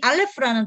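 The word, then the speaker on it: אלף: 요게 이게 발음이 나고 이게 리을 발음이 나고 프 이게 F예요. F 사운드. 그래서 RF 안 하고요. 이거 두 번을 굴려요. 그래서 알레프 이렇게 얘기하거든요. 그래서 알레프인데 여기 알레프가 숫자 값이 여기서는 알레프 한 글자는 1이죠. 그런데 알레프 이거는 알레프가 1이고 라메드가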